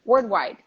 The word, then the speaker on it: worldwide: wide wide no l one word worldwide Pearl is very difficult yes I learned to say like world yeah exactly exactly it's a world world but everything together the first syllable is stressed world world and the